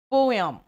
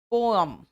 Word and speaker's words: poem: ठीक है, ऐसे प्रोनाउंसिएशन इसका होता है पोयम, पोअम, अम होता है, यम नहीं।